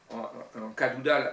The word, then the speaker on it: Cadoudal: Ensuite, Georges Cadoudal, transformé en Cadoudal avec un K pour dire qu'on dans la conversation, on accentue sur le OU, Cadoudal, en breton, par bretonnisme,